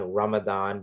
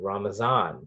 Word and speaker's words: Ramadan: And people, so it's the month of Ramadan, that's how you say it in Arabic, but when these terms are sort of transferred to Urdu, Hindi, Gujarati, and so on, Ramadan becomes Ramazan, because the same letter in Persian is a Z instead